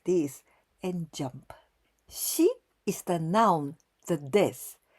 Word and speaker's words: 死: and4 this Ki means the death and we pronounce she at first the stroke order red line from